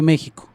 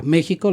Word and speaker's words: México: Bueno, fueron tan tarugos al pronunciar los españoles que durante mucho tiempo a México lo escribieron con J. Con J. Cuando la pronunciación es como SH, como en Xola.